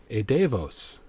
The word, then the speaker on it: Edevos: looks over at you hello hi welcome to a DeVos thank you thank you how do you pronounce it oh oh DeVos E Davis you got it okay all right cool awesome